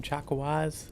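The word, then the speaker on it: Chakwas: Chwaz. Is that how you say your name? Chakawaz with an S. For some reason in my head I always pronounce it chaka with a with no.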